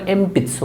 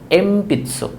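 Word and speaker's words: えんぴつ: এনপিৎসো এটাও বলার সময় বলে এমপিৎসো, মর মতো উচ্চারণ হয় এমপিৎসো, বাট লেখার সময় ন লিখতে হয় এনপিৎসো।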